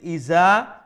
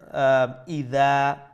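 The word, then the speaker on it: إذا: So there's a difference between iza and idha. One is I'm pronouncing with za, one is I'm pronouncing with dal, and the letter here is dal, so we need to pronounce it with a softer tone.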